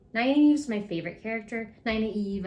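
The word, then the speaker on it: Nynaeve: news my favorite character naive i guess is how you would technically pronounce it the way it's spelled n-y-n-a-e-b-e make sure you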